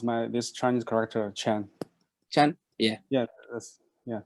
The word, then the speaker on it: Qian: one that's it yes this helps you to pronounce my this Chinese character chan chan yeah yeah yes yeah thank you no